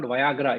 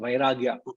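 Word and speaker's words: vairāgya: Sir, it is not Viagra, it is vairagya.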